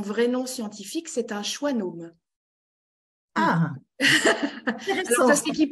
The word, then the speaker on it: schwannome: nom scientifique, c'est un schwannome. Ah, alors, ça s'écrit pas choix plus loin nome, hein, mais c'est quand même ce qu'on entend. Moi qui ai toujours du